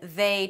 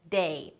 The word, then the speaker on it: they: The th turns into a t or a d. So 'think' turns to 'tink' and 'they' turns to day.